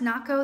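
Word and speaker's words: Nahko: KO na h KO is that pow it's pronounced na KO the bare not go medicine for the people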